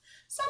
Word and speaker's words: some: silent write and eat some has that silent e at the end some is one of those